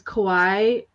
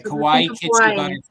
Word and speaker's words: Kawaii: way to remember is Kawhi rhymes with Hawaii okay okay Kauai and then I see